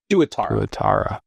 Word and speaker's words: tuatara: Can you tell me if I pronounced that correctly? Tuatara? Tuatara.